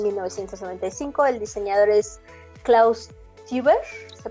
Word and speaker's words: Teuber: El diseñador es Klaus Teuber, ¿se pronunciará así? ¿Teuber? Creo que sí. Cosmos. Toiba, creo.